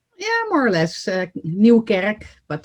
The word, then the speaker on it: Nieuwkerk: am I pronouncing your name correctly? Yeah, more or less. Nieuwkerk, but Nieuwkerk.